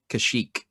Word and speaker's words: Kashyyyk: the wookies home world and how do you pronounce it kashyyyk you're right who actually shot first i believe